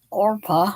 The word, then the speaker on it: Orpah: returned but the daughter-in-law's orpah i almost want to say oprah constantly because that's almost how it's spelled oprah and ruth are